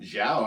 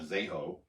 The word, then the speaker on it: Zhao: Zhao actually sounds right. I bet you it's not Zeho. It's definitely not Zeho.